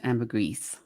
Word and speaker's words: ambergris: perfumes and fragrances use ambergris ambergris whatever it is that you however you pronounce that and accept the pronunciation the British pronunciation is ambergris oh really okay well I knew you wouldn't get it wrong but I've heard it pronounced both ways listen to the parts